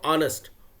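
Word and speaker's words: honest: देखो ऑनेस्ट ऑ साउंड से हो गया, ऑ का वॉवेल उच्चारण हो गया, तो इसलिए में क्या होगा?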